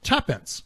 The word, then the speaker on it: tuppence: the pound sign in the two is of course yeah I'm tired of reading that it is of course to pants pronounced tuppence in fact modern speech has